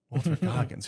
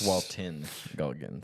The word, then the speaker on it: Walton Goggins: Wait, Walter Goggins. Who is Walter Goggins? Yeah, it's Walton Goggins. Walton Goggins. Dang, you made me say it wrong.